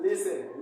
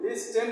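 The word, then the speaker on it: listen: means ध्यान से सुनना इसमें भी टी साइलेंट है ऑफें लिसन लिस्टन नहीं पढ़ना लिस्टन अगर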